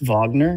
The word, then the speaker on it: Wagner: Is it pronounced Wagner? It is. I heard Kaz say it like that. Yeah, Mo Wagner.